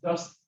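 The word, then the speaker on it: UDST: It's pronounced dust.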